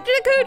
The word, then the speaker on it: Deku: Navi leaves the Deku Tree, which I'm pronouncing it Deku, by the way, as as an olive branch to the fans, because as a kid, I always pronounced it Deku, the Great Deku, like the Great Deku Tree. That's what I always said. And then after I learned that people pronounce it differently, I've started pronouncing it differently.